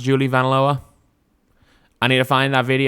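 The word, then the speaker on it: Julie Vanloo: Apparently, Julie Van Loo is pronounced Julie Van Loa.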